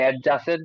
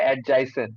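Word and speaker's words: adjacent: এই ওয়ার্ডটার মানে এই প্রোনাউন্সিয়েশন হচ্ছে অ্যাডজাইসেন্ট, ঠিক আছে, অ্যাডজাসেন্ট না অ্যাডজাইসেন্ট, ঠিক আছে। ডিটা একটু হালকা হালকা করে রাখতে হয়, বাট ফুললি প্রোনাউন্স করতে হয় না।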